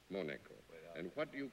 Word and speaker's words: Monaco: Palmaro was the consul from Monaco.